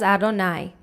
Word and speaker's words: Adonai: second was the tetragrammaton the udhay vav hey which we pronounce as adonai let's look briefly at